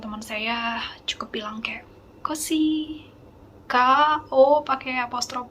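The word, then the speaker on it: köszi: dan Z, terus I, kosi. Ingat tadi yang saya bilang di awal, S dan Z kalau ketemu itu diucapkan S aja ya, kayak dalam bahasa Indonesia sia-sia ya, jangan zia-zia.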